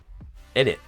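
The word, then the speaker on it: innit: If you pronounce the T, you're doing it wrong. It's init. But it's not inni or inni without the T. You have to pronounce the T without pronouncing the T. It's init.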